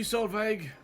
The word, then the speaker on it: Solveig: Thank you, Solveig. The G is silent.